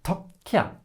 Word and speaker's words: takke: So in the word takke, we want to have a long syllable, a long first syllable because it's stressed, but the A is short since we write the double K. And how do we say a long K then?